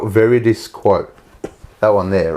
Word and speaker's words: Veridis Quo: That so it's spelt Veridis quote. That one there, right? Oh, yeah. Now say it fast. Veridis quo. Very disco. Oh, very disco. Very disco.